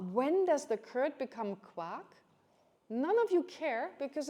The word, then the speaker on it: quark: So for us, it's quark. It's called quark. It sounds a bit like the quarks of a subatomic particles. It's actually, I think it's maybe spelled the same way.